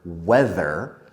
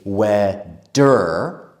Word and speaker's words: weather: But in the word weather, we need the th sound with the voice. So we don't say weather or weather. We need the tongue out.